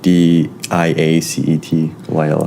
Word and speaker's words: diacetyl: One of the ones that we found out some information about is the diacetyl. That's how you say it, diacetyl. I think it's diacetyl.